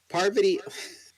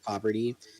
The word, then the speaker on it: Parvati: one in the show can pronounce Parvati? Parvati, I've heard Parvati's name pronounced plenty of times correctly. Yes, when the show first began, Parvati's Poverty? name is pronounced Poverty, but my only thing